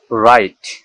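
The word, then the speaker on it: wrong: রং, ডাব্লিউ আর ও এন জি, রং, এখানে ডাব্লিউর পরে আবার আর আছে, এই ডাব্লিউটা অনিচ্ছারিত থাকবে, অর্থাৎ ডাব্লিউর উচ্চারণ হবে না, তাই এটাকে বলতে হবে রং, রং মানে ভুল।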